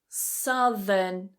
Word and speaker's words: southern: The vowel changes here. Southern. South. So we have south, southern, sow, ow, south, So the vowels are quite different. Notice also that the TH sounds are different. South is voiceless. South, there's vibration. South, southern. Here's number 5.